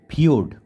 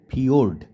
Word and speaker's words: ফিয়োর্ড: পারো এবারে যেটা আছে নয় নাম্বারে সেটা হচ্ছে পিওরড উচ্চারণটা আমি আবারো বলছি পিওরড হয় হস্কার অন্তস্থয় ওকার ডয় রেফ ঠিক আছে পিওরড দেখো এই জায়গাটা একটা একেছি আগে চিত্রটা বলে